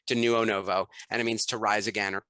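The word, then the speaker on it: Denuonovo: new onobo is d-e-n-u-o-n-o-v-o it actually sounds just like it's spelled but it looks very confusing at first to neuo novo and it means to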